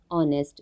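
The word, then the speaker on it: honest: नेक्स्ट वन ऑनेस्ट, जो मैंने पहले बता दिया था, एच साइलेंट है, सो अ से स्टार्ट हो रहा है तो हम एन यूज़ करेंगे।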